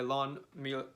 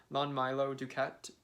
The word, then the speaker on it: Lon Milo DuQuette: a new introduction by lawn meal i always mispronounced his name lon milo duquette so i think many